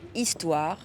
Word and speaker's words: histoire: Dans la plupart des cas, le H est muet, comme dans une histoire, un hublot.